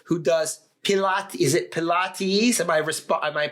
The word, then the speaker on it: Pilates: even the one who does pilat is it Pilates am I resp am I pronouncing it correctly Pilates because she couldn't work initially uh during the